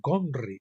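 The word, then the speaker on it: Ghomri: y más tarde hri en realidad se pronuncia con un gutural sonido gh que aún se encuentra en el idioma alemán pero no en castellano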